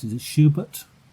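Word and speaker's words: Schuberth: And I think Was it how do you pronounce it? Is it Schubert? Schubert.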